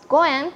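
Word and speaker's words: 五円: success of all business also the five is pronounced as Goen in Japanese this is the same as another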